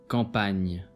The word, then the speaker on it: campagne: GN is pronounced as Ny. as an English word onion. Campagne. Agneau.